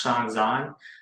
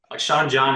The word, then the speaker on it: Shawn Zhan: here by the way my name is pronounced Sean Zhang Sean John is the that's the P Diddy clothing brand so all right a little bit different Sean's on okay yeah